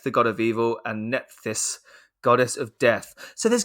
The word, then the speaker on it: Nephthys: it i i told you it's right and it's spelled by the way n e p h t h y s no i think it's netist nephitus you just